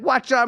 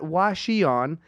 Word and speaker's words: Hwacheon: me a while ago how to say this not Washi on it's like having a watch and having it on is what they taught me